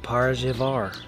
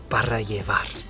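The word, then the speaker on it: Para Llevar: So we're back in Marfa at this place called Parajevar. And that's not how you pronounce it. It's Parajevar. And it's right off the main strip, so you can't miss it.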